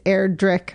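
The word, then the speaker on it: Erdrich: book I was like is it airr or airrick it's erir drick like the hard K even though it's spelled with a CH and I also learned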